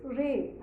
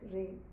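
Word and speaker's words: Reh: k and cin then comes dear dear is Ray r e h Ray donkey is elephant is elephant very much similar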